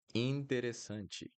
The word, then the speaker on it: interessante: Interessante. Interessante. Ti. Also, pay attention to the pronunciation that I'm doing at the end of the word.